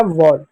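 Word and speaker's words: wall: अगला है डब्लू का उच्चारण व के रूप में, ए का उच्चारण औ के रूप में और एल का उच्चारण ल के रूप में हो जाएगा वॉल।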